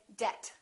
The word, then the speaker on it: debt: climb we say climb debt don't say debt say debt subtle and doubt another